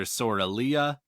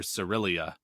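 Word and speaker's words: Sorilea: One of them calls her Sorelia. The other one calls her Cerelia, and that is not terribly different, but it is slightly different, and so it's fun.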